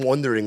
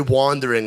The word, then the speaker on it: wandering: Sounds like he's saying wondering like he's thinking, but it's really wandering like he's lost in the woods.